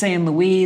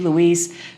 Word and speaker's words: Luis: Oui, je sais, je prononce toujours Louis, Luis… c'est mon accent français qui ressort.